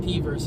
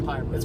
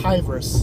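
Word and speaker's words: PVRIS: We were pronouncing it P-verse yesterday, but apparently it's Pyrus. It's Pyrus. Like E-V-R-I-S. Like virus with a P.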